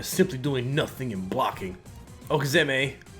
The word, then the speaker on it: Okizeme: doing nothing and blocking okezame pronounced okazumi often shortened to Okie